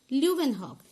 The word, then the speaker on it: Leeuwenhoek: I mean how to pronounce Leeuwenhoek? Leeuwenhoek and together Leeuwenhoek.